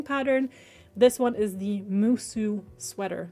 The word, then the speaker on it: Musu: This one is the Musu sweater. That is spelled M-U-S-U.